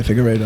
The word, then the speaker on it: Figueiredo: Yeah, how do you say Figueredo? Yeah, Figueiredo. Yo, that was a brawl.